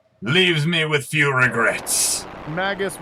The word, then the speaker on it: Magus: me with few regrets magus rhymes with the word i don't like don't like it actually